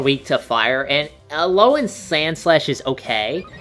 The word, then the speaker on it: Alola: Alola, am I pronouncing that right?